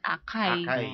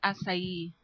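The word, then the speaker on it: açaí: asay ung spelling n Ano ang spelling ng asay a c a i sa atin basa natin akay akay Pero in Brazil it's it pronounce asay Okay so kung halimbawa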